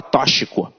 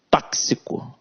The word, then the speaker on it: tóxico: gramática tóxico tóxico né olha a gente fala toshiko é tóxico e semântica então aqui